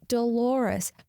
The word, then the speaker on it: Dolores: Moments later after she leaves, he realizes it's Dolores, rhyming with the common pronunciation of clitoris. He runs to the window and yells Dolores.